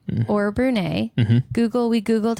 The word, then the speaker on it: Brunei: to shout out some new countries one is Brunei or Brunei Google we googled how to say it so